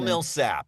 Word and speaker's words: Millsap: Is that how you pronounce? Yes. Milsap.